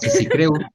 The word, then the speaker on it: Kreusch: vuélvemelo a por favor como digas cre es como alemán Exacto tengo una amiga